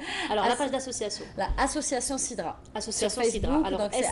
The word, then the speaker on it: Sidra: L'association Sidra. Association sur Sidra. Facebook, alors, donc c'est SIDRA, comme ça se prononce.